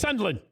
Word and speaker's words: Sunderland: That's how they pronounce it. Yeah, the R is casual. Sunderland.